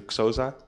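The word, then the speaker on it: Xhosa: sort of is the Casa language and I'm not even pronouncing that right because with the X you have to inhale so it's something like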